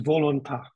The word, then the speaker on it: volontà: Volere, volontà e volizione. I didn't quite get it, what it is. The natural will that we all have is volontà. Yes. Accent on the last.